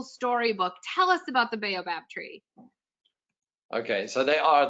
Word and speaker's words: baobab: learned how to say the name properly the baobab tree you got it this is so beautiful i mean they're they're right out of a magical storybook tell us about the baobab tree okay so they are they are magical